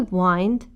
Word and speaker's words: wind: to wind and wind to wind is a verb pronounced like wine but with a d to Wi wind means